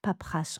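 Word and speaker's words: paperasse: Je fuis la paperace. Paprasse, on prononce pas le e ici.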